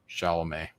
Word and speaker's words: Chalamet: remake, Dune 1, but with what's his name, Chalamet.